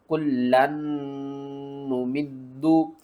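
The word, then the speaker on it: كُلًّا نُمِدُّ: यहाँ पर आपने लाम को भी 2 बार पढ़ना है, नून को भी 2 बार पढ़ना है, दाल को भी 2 बार पढ़ना है। और यहाँ पर नून के ऊपर आपने क्या करना है? गुन्ना करके पढ़ना है। किस तरह? कुल्लन नुमिद्दु।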